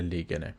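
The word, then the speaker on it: legen: میبری او پاسخ میدهد این فعل لیگن یعنی گذاشتن با ای متوسط و نه اون آی ای اگر باشه میشه چی لیگن یادتون باشه این دو اشتباهی که اکثر افراد میکنن میشه لیگن این میشه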